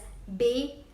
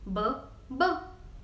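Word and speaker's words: bébé: is XO a GU so it is pronounced as BAE BAE but if there is no X on a go it will be pronounced as ba ba ba ba next is love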